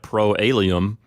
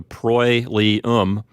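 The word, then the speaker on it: proelium: not pronounced separately like pro a Liam that's a diphthong they get pronounced together so pro Lee um is how you pronounce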